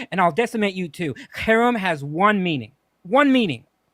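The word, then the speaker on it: cherem: will spell it spell it just real quick spell it c h e r m so Kum and it means as I said it it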